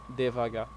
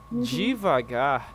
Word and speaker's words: devagar: Divagar is like regions of Brazil that pronounce in this way.